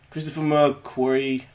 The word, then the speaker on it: Christopher McQuarrie: Christopher McQuarrie, that's how you pronounce it.